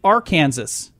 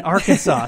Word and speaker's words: Arkansas: It's against the law to mispronounce the name of the state Arkansas. I mean Arkansas.